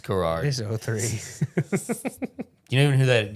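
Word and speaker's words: David Garrard: man the best quarterback in this class is David Gerard am I looking at that right maybe so he's pronounced Gerard okay it's garage you don't even hear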